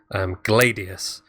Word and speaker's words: Gladius: I would go on to say that Gladius is often mispronounced as Gladius. And I mean, it comes... The word gladiator we get from the word gladius. It should be obvious how we pronounce it, but it's Latin. It's gladius.